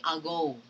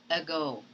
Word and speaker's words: ago: you read this word you do not say algo but you have to simply say ago okay read it for